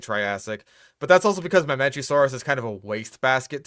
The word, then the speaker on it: Mamenchisaurus: I'm gonna count that as a weird pronunciation. That was just, like, Mamincosaurus? Or... How'd you pronounce it? My nightmares. Number 5 is the Mamincosaurus. Mamincosaurus. Yeah, that's just weird. Like Mamenchisaurus. It's not hard.